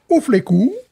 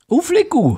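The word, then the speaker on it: U Fleků: Alors, la plus vieille brasserie tchèque, attention, Ouflekou. Ouflekou. Voilà. Le tchèque, en fait, ça s'écrit bizarre, mais ça se prononce assez bien, finalement.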